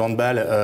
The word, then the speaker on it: handball: Le handball, on prononce bien handball, hein, parce que c'est un sport d'origine alémanique et allemand.